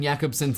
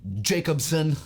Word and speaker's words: Jakobson: Mortles points out that Roman Jakobson's name is pronounced Jakobson and not Jacobson, which I apologize.